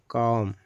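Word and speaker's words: calm: कॉम परसकून को बोलते हैं कॉम। कॉलम नहीं है। ठीक है? यहां पे भी जो है एल साइलेंट है। एल के बाद एम आया है।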